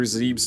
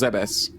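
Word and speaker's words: Zebes: they would also consider zebbs to have fallen there but so I'm sorry it's pronounced Zees I don't know why I said zebbs the subsequent destruction of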